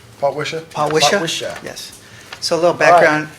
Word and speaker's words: Potwisha: The Potwashaw? Potwisha? Potwisha.